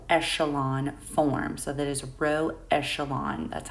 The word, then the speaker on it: row echelon: in a row echelon form so that is row echelon that's how we pronounce that so before we begin there's a